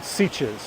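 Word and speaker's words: Sitges: Barcelona City I'm in a town called sieches which is spelled s-i-t-g-e-s and we are here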